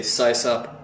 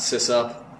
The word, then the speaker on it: sysop: how I pronounce things if I saw something with a Y I would say size up cosine sub uh why